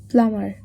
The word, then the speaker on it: plumber: Silent letter in the word plumber, it is B.